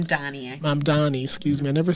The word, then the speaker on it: Mamdani: I want to make sure Mamdani. Mamdani, did I say it right? Mamdani. Mamdani, excuse me.